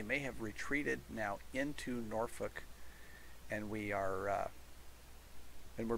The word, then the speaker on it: Norfolk: have a norfolk garrison norfolk militia or if you live in nebraska that's pronounced nor fork yeah um they did